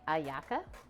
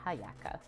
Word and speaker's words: hallaca: today before stream and the H is so it's more like aaka than haaka Lily can confirm or deny